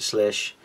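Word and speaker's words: Slysz: I always say his name is Slides, but Slish model that's kind of reminds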